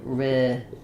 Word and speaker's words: ridiculous: And then in ridiculous, again, also kind of lis or lus, going almost quickly from the L, almost no vowel, to the S sound, lis, ridiculous.